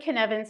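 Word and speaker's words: Cynefin: So, has anyone heard of the Canvan framework?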